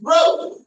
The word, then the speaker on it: growth: That said, I commend you for the way you verbalized growth. Growth, as opposed to growth. Growth, that was impeccable.